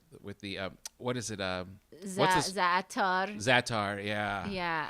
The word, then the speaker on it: za'atar: Za'atar. Za'atar, yeah. Yeah. How do you pronounce it?